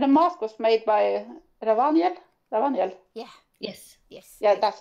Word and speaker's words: Ravaniel: And the mask was made by Ravaniel.